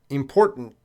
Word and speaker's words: important: well it's the the important yeah both T's are gonna be reduced that's what it sounds like to me I'm not saying important